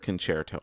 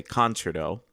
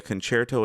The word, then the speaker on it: concerto: Let's start off with the word concerto, which a lot of people either A, pronounce it incorrectly, they say concerto, and B, they don't really know what it means.